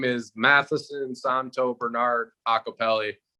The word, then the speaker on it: Iacopelli: name though do you it's pronounced acapelli not ikeli yeah a lot of